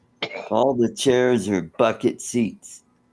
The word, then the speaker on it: Bucket: that I mean, her her last name there was was spelled B U K E T and her husband went by bucket, but she was too good, so she went by bouquet.